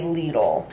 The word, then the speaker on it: Lidl: a little all Lidl I always hear people pronounce it little but I think in the commercial they say Lidl when I tell you